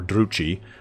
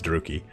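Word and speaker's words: Druchii: Because from this point, depends on how you want to pronounce this, Druki or Druchi. I like Druchi, but I know it's Druki.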